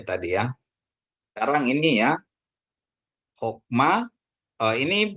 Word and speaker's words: hokma: Bapak Ibu saudaraku ya kenapa jadiat ini jadi bacanya o Kenapa karena ini adalah ee tertutup ya Ee suku kata tertutup ya sehingga dia menjadi O berarti hokma bukan hakma ya Bapak Ibu saudaraku ingat